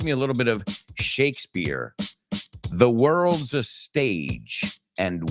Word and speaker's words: Shakespeare: Shakespeare. Okay. Americanos lo pronunciamos así. Esa P suena como una B.